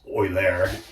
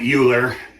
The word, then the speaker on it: Euler: And, in German, that's actually pronounced Euler, but most English-speaking people call it Euler.